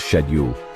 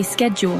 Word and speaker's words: schedule: tomato see the difference schedule the British pronounce it as shedule while Americans say schedule face in Britain it's